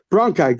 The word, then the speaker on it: bronchi: to show the symphonos the how you pronounce it branchy bronkey bronai oh you're right that makes like bronchitis oh bronchi good so that's so until